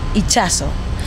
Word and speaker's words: Itxaso: And that's a Basque name. It's pronounced Itxaso.